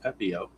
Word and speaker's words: Pepiot: Uh for those of you that are not very familiar with Tampa Bay, their starting pitcher is Ryan Pepiot. That's how it's pronounced, Pepiot.